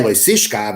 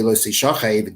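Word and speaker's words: לא תשכב: It's read lo sishkav, it's spelled the same way, which means do not lay, don't do the act, but it could also be lo sishachev, don't be laid, which means have the act done to you.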